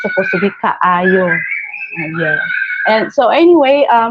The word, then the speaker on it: kaayo: Um, yeah, lamig kaayo.